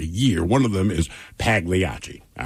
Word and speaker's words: Pagliacci: one of them is Pagliacci. All right? I know I'm saying it wrong. No, the texts have already come in. So one person says, hey, man, the G is silent in Pagliacci.